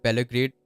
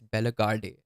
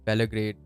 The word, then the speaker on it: Bellegarde: I thought Belgrade was amazing. I've been pronouncing his name wrong. It's Bellegarde, I think. Sorry for the pronunciation, guys. I've been calling him Belgrade for a long time.